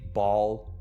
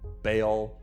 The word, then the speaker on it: Baal: So, I know people pronounce his name differently, Baal, Baal, Baal. I'm going to say Baal because I've always said it that way and because I have Baal knowledge.